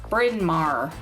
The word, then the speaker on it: Bryn Mawr: We have a street in Chicago called Bryn Mawr. You don't want to know how it's spelled. It's literally, I'll say it, spoiler alert, BRYN space MAWR. Bryn Mawr.